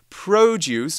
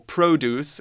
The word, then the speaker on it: produce: Now, one interesting thing about this word is it can be a noun too, but we change the pronunciation slightly. If we say produce or produce in an American accent, right?